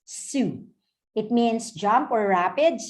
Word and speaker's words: Sault: marie so makakita parang salt or s-a-u-l-t what we but we pronounce it as su it means jump or